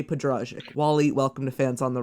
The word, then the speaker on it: Podrazik: beetle fest please welcome day Padraic Wally welcome defense on the run thank you so much and thank you for pronouncing the last name correctly so my hats